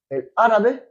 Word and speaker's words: árabe: Il y a un accent sur le premier A. El árabe.